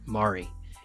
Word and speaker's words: Mari: This episode, you'll meet my new favorite store owner, new friend, Mari. It's spelled Marie, but as she says, the way to pronounce it is like calamari. Makes it easier to pronounce correctly.